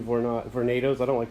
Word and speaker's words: Vornado: So here's the smaller, the first of the two Vornados.